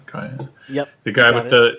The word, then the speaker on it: Kai: is what's how do you say his name Kai yep the guy with the you know the